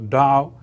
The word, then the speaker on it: Dao: The Dao, spelled with T, you know, and now more people write it, spell it with D. So T is also pronounced as D. So Dao, that means the way.